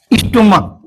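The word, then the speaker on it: stomach: हाँ, एक चीज और, यदि CH का प्रोनाउंसिएशन क होता है, क्या होता है?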